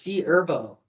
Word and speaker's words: G Herbo: I love G Herbo. It's also G Herbo. The H What is is silent, bro. What? The H is silent. It's G Herbo.